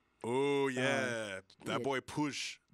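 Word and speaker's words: Puig: oh yeah that boy push push is how you say his name by the way push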